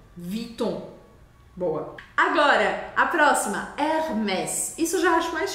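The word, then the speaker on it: Hermès: boa agora a próxima Hermes isso eu já acho mais chique mesmo Hermes o h no começo das palavras em francês não é pronunciado tá a gente vê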